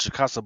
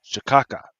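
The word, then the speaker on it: cachaça: supposed to be pronounced chicasa, but on the joint says shaka, right?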